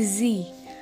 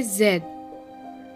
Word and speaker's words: z: and z r z in american english we say z in british english we say zed come on sing along